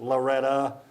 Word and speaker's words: Loretto: fairview 6-3 to loretta spelled loretto pronounced loretta if you're down there